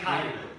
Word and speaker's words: ไข่: ภาษาไทยไก่ภาษาไทยไก่ เกมแล้วเรื่อย ไก่ ๆ ภาษาไก่เอ๊ะ เกมแล้วเหมือน Yeah, gai and kai. อ๋อไก่ไข่ Yes. ไก่เอ๊ะ Gai is chicken, but egg ไก่ is ชิค kai.